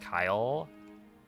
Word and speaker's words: Keil: You have a friend named Kyle? But their name is spelled Keil. Interesting. Yeah, I would not pronounce that as Kyle.